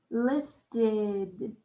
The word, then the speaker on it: lifted: man set it down lifted lifted lifted has the ed spelling the ed spelling made the id sound lifted awesome job did it